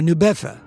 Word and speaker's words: New Bedford: At least he was, until a fateful trip to the nearby port town of New Bedford, or New Bedford, as it is pronounced there.